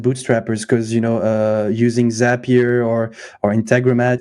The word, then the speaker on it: Integromat: Integromat.